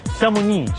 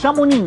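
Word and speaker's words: Chamonix: chilled out town called shamoni shamun shamoni but it's spelled with an x x with an X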